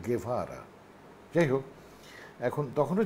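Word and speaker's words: Guevara: যে মারা গেলেন আচ্ছা ওর উচ্চারণটা কিন্তু গেভারা মানে ওই যে কিছু মনে করেন না পন্ডিতই করছি না মানে স্বাভাবিক এটা না জানারই কথা সাধারণত ওই জি এরপর যদি ই থাকে তাহলে ওটা স্প্যানিশে কাস্টালিয়ান স্প্যানিশে খে হয়ে যায়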